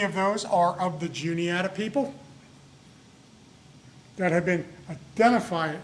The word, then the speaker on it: Juniata: At the top there, it looks like Onondaga. That's how we would look at that and pronounce it if we just saw that. It's actually pronounced Juniata. That's where we get Juniata from.